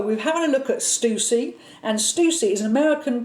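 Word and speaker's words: Stüssy: Now I'm going to spell it out because it looks like Stussy. Okay. It's Stussy, but I've Googled it and it is pronounced Stussy.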